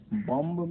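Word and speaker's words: bomb: इसी तरह से बॉम्ब में, अब देखिए बॉम्ब जो है उसमें बी साइलेंट है, बम हो गया।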